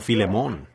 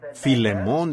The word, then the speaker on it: Filemón: Así que Filemón dijo alguien allá atrás, lo cual creo que es la pronunciación correcta.